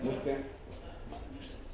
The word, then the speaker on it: Mufke: Antonio, socio fundador de Mufke. Así se pronuncia, Mufke. Debe de ser el primero que lo dice bien.